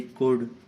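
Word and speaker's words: could: ऐसे ही कोड, कोल्ड नहीं होता है, कोड होता है, यू के बाद में आ रहा है ना।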